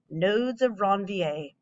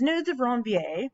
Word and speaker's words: nodes of Ranvier: totally on it because you have to say it like nudes or wrong va so in these nodes of ranvier fiance this is going